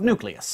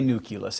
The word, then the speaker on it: nucleus: switch over to nucleus, which is, after all, how it's spelled.